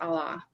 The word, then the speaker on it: Allah: God in Arabic is pronounced Allah.